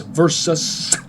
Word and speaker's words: versus: And yes, it's versus pronounced with a sus, not a says.